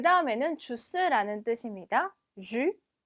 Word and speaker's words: jus: jus. 마지막 s는 발음이 되지 않고요. 여기 나와 있는 ü 발음 기억나시죠? 입은 우, 소리는 이, 그대로 주.